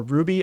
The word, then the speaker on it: RWBY: red versus blue and RWBY or Ruby I think is how you're supposed to pronounce it um yeah is now